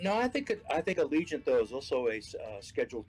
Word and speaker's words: Allegiant: have you got them there grantler we we pronounce it Allegiant here have you gone then Ruby where at